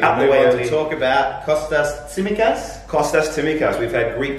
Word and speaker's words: Tsimikas: The Greek journalists have come out and said this is how you say his name. Tsimikas.